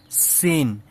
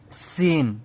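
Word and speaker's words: سين: আবার একদম দন্তসর মতও না এর মাঝামাঝি একটা উচ্চারণ সিন সিন প্রেশার কুকারের যে আওয়াজটা টা আছে না ওইটাই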